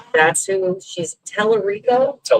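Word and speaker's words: Talarico: James Telerico. That's who she's. Telerico.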